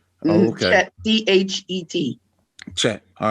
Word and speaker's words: Chet: Chet. Oh, okay. Chet, C-H-E-T.